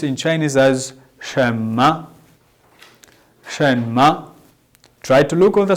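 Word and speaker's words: 什么: chinese words within our new words today we pronounce in chinese as shema shen ma try to look on the screen shema shema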